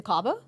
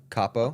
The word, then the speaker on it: Capo: went to Capo. I went to Capo this week. Have you been there? To Cabo? Capo. Capo. C-A-P-O.